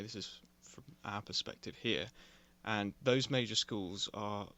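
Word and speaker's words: Jerez: So, however you pronounce that, I'm pretty sure you pronounce it with an H sound.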